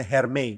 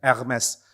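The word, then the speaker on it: Hermès: Orang bilangnya Hermei, bukan Hermei bacanya. Emas. Nah, Saudara, Mes ini produk mahal.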